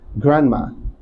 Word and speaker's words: grandma: in that category okay this void is not pronounced as grandma it's pronounced as grandma Grandma Grandpa Grandma Grandpa